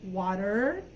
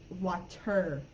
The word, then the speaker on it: water: In American English, water, it sounds like two D's or maybe like an R, water, or like a Spanish R. But in UK English, water, they have the T, or wata, I guess, I don't know.